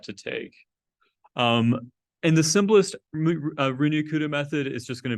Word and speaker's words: Runge-Kutta: of contexts before are just going to be Runge-Kutta methods. That's how I pronounce it.